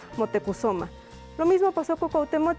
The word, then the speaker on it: Motecuhzoma: que sería el viejo la pronunciación que ahora le damos fue la dada por parte del fue la dada por parte de los españoles pero en las fuentes mexicas la encontrarán como motecuhzoma lo mismo pasó con